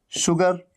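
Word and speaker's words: sugar: जहां भी SH आया वो है शलगम वाला श, और S के साथ U लग करके आता है, और तब भी साउंड आता है श का, शलगम वाला श। कैसे? शुगर, शुगर मतलब चीनी।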